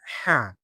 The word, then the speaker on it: ح: The sound ha comes from the middle of the throat and halq. What's al halq? It is a soft and gentle sound, almost like a light breath.